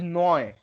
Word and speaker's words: neu: Let's say the word is noi. Noi. NOY. No. How to say? Which word, which combination has the Oi. pronunciation oi? NEU. Very good. EU. EU is oi, right?